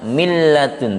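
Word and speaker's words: من لدن: Min ladun, maka membacanya min ladun, tidak boleh didengungkan sampai 3 harokat seperti bigunah tadi, ya.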